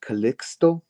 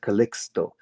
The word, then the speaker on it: Calixto: Because it's an old Spanish name. It's actually pronounced Calixto with a C and an X. Calixto. So Calixto.